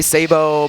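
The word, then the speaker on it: sabot: And ever since the sabbated rounds came out, how do you say it? You tell me how to say it. I say Sabo, but everybody knows what you're talking about. You're Sabo rounds, yes, sabbated rounds came out.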